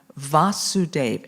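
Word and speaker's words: Vāsudeva: look i know what was it with a long a or a short a it was with the long a so with the long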